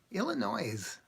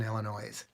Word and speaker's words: Illinois: that I know there's you don't pronounce the S in Illinois but the weird thing